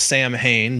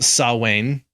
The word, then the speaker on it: Samhain: rule we have uh something that looks like it should be pronounced samhain but because it's gaelic it's pronounced sawwain sawwain yep that was